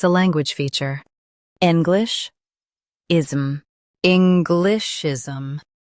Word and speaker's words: Englishism: English, ism. Englishism. Stress N and keep glish light.